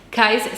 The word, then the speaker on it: Cayce: Cayce se escribe C-A-Y-C-E.